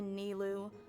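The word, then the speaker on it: Nilou: Does this friend happen to be Nilu, the one who sends Nilu?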